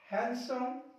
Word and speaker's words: हैंडसम: Next one इज, इसमें देखिए star लगा के कुछ शब्द लिखे मैंने, यहां पे डी साइलेंट होगा। हैंकरचीफ, हैंडसम, सैंडविच, वेडनेसडे, ये शब्द आपको भी क्या करना है, साइलेंट करना है।